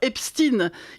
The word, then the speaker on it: Epstein: Vous et moi qui avons toujours prononcé Einstein, Rubinstein, Weinstein avec Ein prononçons naturellement Epstein. Mélenchon aussi, ça nous fera au moins un point commun, mais voilà qu'il s'énerve. Mélon contre ceux qui argant que ça se prononce comme ça en Amérique appelle le 10 maître chanteur Epstine il dit et bien